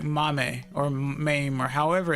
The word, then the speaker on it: MAME: You know, you said it right the first time. What? Mame. I'm surprised. Like, etame. Um, aim with an M in the beginning.